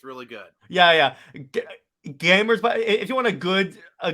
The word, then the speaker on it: GVMERS: It's like What's interesting is that if you go to the YouTube channel Gamers, it's spelled GVMERS.